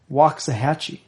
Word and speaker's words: Waxahachie: Does it have a pronunciation? Oh, it does. Waxahachie. Waxahachie? Waxahachie, yep.